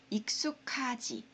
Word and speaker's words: 익숙하지: 거 나올 거예요 자 기억 받침이랑 히읗 발음이 만나면요 이렇게 됩니다 그래서 익숙하지 익숙하지라고 읽어야 돼요 자 8페이지에 이런 거